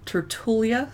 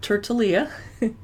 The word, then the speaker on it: Tertulia: Get into the tasting room starting with T, Tertulia Cellars, not Tertulia.